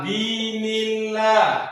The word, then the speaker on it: dinillah: Kalian kalau huruf yang berbaris di atas itu ketemu dengan tulisan Allah itu bacanya jadi Allah. Kalau barisnya di bawah jadi la. Itu kan?